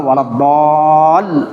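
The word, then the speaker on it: ولا الضالين: sudah saya sampaikan kemarin bacanya adalah waladol. Ketika dol ada mad tabi'i yang kemudian bertemu dengan dengan lam, maka bacanya adalah walad l ada penekanan itu namanya nabrrah. Nabr ee jadi enggak boleh dibaca lurus waladin. Nah, itu tajwidnya salah. Waladin salah.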